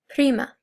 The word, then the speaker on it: prima: So to start, we have female cousin, prima. Male cousin, primo. And we want to remember that if you can, I know it's hard, but if you can roll your R's, we're going to try